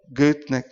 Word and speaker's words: Goethe: Olha só, Goethe, na verdade se pronuncia.